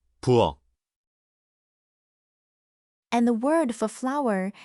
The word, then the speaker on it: 부엌: The word for kitchen is spelled with a final, but that becomes a plain stopped K. 부엌, And the word for